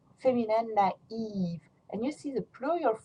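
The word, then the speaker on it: naïve: So masculine, naif, feminine, naive. And you see the plural form masculine will have the same sound, naif, naif. You just add an S. And the feminine, naive, naive, you just add an S, you don't pronounce it.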